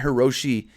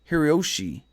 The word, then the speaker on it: Hiroshi: No, Hiroshi. I always say his name wrong. It's not Hiroshi. It's Hiroshi. It's basically Hiroshi. I always get that mixed up.